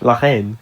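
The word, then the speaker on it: La Haine: My third movie pick is Lahen. I don't Oh, is that how you pronounce it in French? Len.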